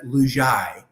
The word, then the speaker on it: Lugiai: It is pronounced Lugiai.